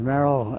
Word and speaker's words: Merril: give me your name so we'll have it pronounced correctly my name is Merrell that's right m-e-r-r-i-l okay uh where